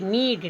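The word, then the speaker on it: knead: उसी तरह से के एन ई ए डी नीड।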